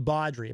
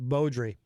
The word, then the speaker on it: Beaudry: he sent me he always says badri but I believe it is pronounced Beaudry um let's see oh Crystal share that article